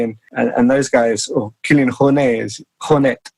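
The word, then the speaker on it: Kilian Jornet: and those guys or kilan H honet as he should be pronounce uh you know they're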